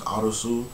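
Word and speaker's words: アリス: character, his name is Arisu. That's why it's called Alice in Borderland, because I think Arisu is the Japanese pronunciation of Alice.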